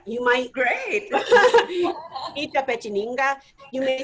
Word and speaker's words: Itapetininga: They may need to know where in the world is and how you pronounce it. Say it for me, Paula. Itapetininga. Itapetininga. You might. Great. Itapetininga.